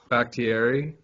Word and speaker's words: Bakhtiari: Pronounce his name properly. Bakhtiari.